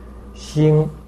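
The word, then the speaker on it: 醒: Xing, heart, pronounced as Xin, and that star pronounced as Xing. So a minor difference there.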